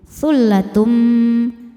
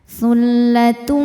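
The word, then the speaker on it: ثلة: Cara bacanya bunyi tanwinnya ini lebur ke mim. Tsullatum sambil dengung tahan. Tsullatum.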